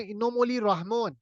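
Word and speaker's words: Эмомали Рахмон: of Tajikistan कौन है इनो मोली रहमो इनो मोली रहमो basically रहमो Rahman है रहमो इसको इस तरह वहां प्रोनाउंस किया जाता है इनो मोली रहमो प्रेसिडेंट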